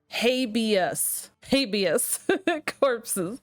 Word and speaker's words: Habeas Corpses: And I'm being told it is pronounced habeas corpses.